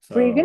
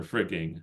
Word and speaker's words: friggin: Or frigging, I guess in this case, they have the G, but a lot of the time you drop the G.